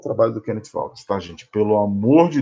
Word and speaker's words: Kenneth Waltz: Esse é o Kenneth, uma pronúncia mais precisa, o Kenneth Waltz.